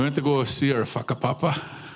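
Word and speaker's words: whakapapa: to go see our fakapapa right our family that's what family it's not a swear it's family but that's how they say it in Maori but every chance I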